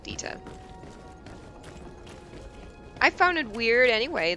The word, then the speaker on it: Dieter: I would call it Dieter. Because for me that kinda is a German name. And I would pronounce it Dieter.